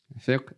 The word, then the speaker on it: fiqh: Fiqh is a little bit difficult to pronounce because that qaf is in the back of the throat.